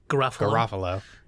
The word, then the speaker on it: Garofalo: Garofalo.